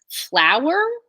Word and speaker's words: flower: want to show you another two-syllable thing that seems like one syllable flower if you think of like flowers versus like flour the powdery stuff but they're both two syllables right flour so you were